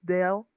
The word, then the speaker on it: del: Dell the L has to touch your the the top the with your tongue the top of your like your mouth like Dell alma. You cannot like Yes. You cannot just like erase the L here or we go back.